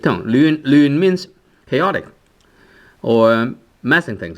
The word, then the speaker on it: 亂: And normally this word is pronounced as 亂. Which is fifth tone, but then sometimes you can use 亂 second tone. Right, so sometimes you can use second tone, sometimes you can use the fifth tone.